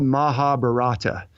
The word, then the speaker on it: Mahabharata: epic called the Mahabharat spelled maja it spelled Mahabharata and you may that's how I would kind of like provided if I didn't and I don't even know if I'm pronouncing a rapid I'm told they say Mahabharat which is this fantastic